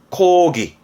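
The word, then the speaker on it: 講義: 코기.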